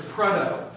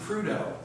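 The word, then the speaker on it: Prudhoe: to the city in northern uh alaska called prudo if you look at the pronunciation the gentleman is named after it's pretto but all the people there pronounce it prudo um another example in newfoundland canada people make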